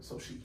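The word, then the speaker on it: Xochitl: It starts with an X. Sosha? Soshi. Soshi. Yeah. So it's like Sophie, but Soshi. Soshi Flores.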